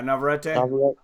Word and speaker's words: Navarrete: And according to the odds, can you pronounce his name again? Navarrete? Yeah, Navarrete.